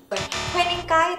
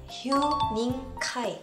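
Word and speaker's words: 휴닝카이: Sebenarnya kalau misalkan dilafalkan di dalam bahasa Korea, Hue-nya itu dibaca Hyu, jadi Hyuning Kai. Wening Kai tapi Hyuning Kai.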